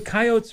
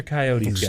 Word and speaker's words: coyotes: the coyotes tonight at 7 are you a coyotes or coyotes guy depends on I am both like I